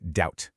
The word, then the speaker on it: doubt: The B in doubt is completely silent. Literally pretend it's not there. It's just doubt.